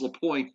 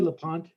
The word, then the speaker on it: Lapointe: It's Lapointe, Joe. Did I say LaPont?